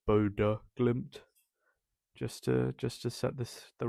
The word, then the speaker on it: Bodø: It's not Bodo Glimt. It's Bodo Glimt. Actually, that O with the line through it, it's an sound. So it's Bodo Glimt.